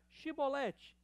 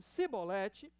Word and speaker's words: Shibolete: Se respondesse que não, diziam: então diga Shibolete. Se ele dissesse Sibolete, sem conseguir pronunciar corretamente a palavra, prendiam-no e matavam-no no lugar de passagem do Jordão.